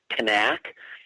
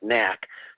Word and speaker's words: Knaak: we want to talk her name is actually pronounced Kanak and and through all the years that I've covered this I always I always thought her name was pronounced the way that you're saying it nak so if I find myself going back and